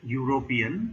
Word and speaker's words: European: Similarly, he is a European because even though the word has got E as the starting letter, it is pronounced as U.